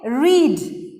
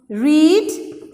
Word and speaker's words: read: It's the same spelling, but the pronunciation is different. Okay? Read. Read, same. But when you pronounce it, you say read. I read the story last night. I'm reading the story now. Present. I read. When you pronounce only, it changed, though the spelling is the same.